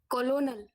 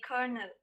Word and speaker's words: colonel: word in american english colonel that is the wrong answer the right answer would be kernel the right answer of